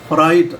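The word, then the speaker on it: fright: अब फ्राइट अब एफ के बाद आर आ रहा है तो हम एफ आर लिखेंगे ना कि एफ ए आर लिखेंगे।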